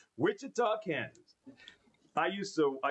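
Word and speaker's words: Wichita: I pronounce it correct. Witchah Kansas.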